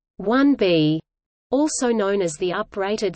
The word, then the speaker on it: Saturn IB: The Saturn IB, pronounced 1B, also known as the